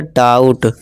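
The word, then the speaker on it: doubt: कहता है देखिए दोस्तों ओ यू आ गया डाउ यहां इसमें क्या है बी साइलेंट है ये क्या हो गया डाउट काउंट साउंड राउंड ठीक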